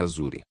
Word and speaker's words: Azuri: ling ficou momentaneamente atordoado o nome desta terra era azir mas era apenas uma transliteração de caracteres chineses sua pronúncia real era azuri que significa azul celeste